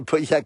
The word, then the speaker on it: Pauillac: C'est bien prononcé, Pauillac, oui c'est Pauillac, merci Agis, ouais c'est sympa, merci beaucoup.